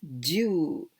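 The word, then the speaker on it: 銃: What is this Jew? The same pronunciation as Jew. 10, the number 10.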